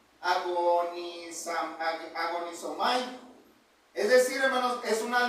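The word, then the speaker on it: ἀγωνίζομαι: Verad, en el griego esta palabra este se pronuncia agon agonisomay, es decir, hermanos, es una lucha desgastante, una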